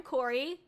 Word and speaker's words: Kōri: YoHallo Raiders, if you don't know who I am, hi, I'm Kōri. Kōri like Kōri in the house, but it's spelled a little bit differently.